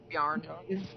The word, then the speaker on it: Bjorn: Bjorn, how do you say his name? Yarn.